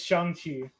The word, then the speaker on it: Shang-Chi: I do love, and it's Shang-Chi. That's how you pronounce it.